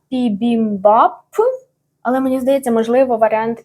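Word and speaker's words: 비빔밥: там чотири рази використовується ця буква П або б і якщо подивитися на українську Вікіпедію основний варіант пібімбаб але також є пібімпап пібімпап бібімбаб бібімбаб або пібімбаб є різниця між тим що я оце повимовляла не дуже І от в корейській за цим принципом і взяли просто одну букву на два звуки в результаті я До речі зупинилася на пібімбап Але мені здається можливо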